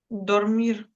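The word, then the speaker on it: dormir: Тому, якщо ви бачите l і н, кажемо д повноцінно і на початку слова, наприклад, dрмі. Дормір.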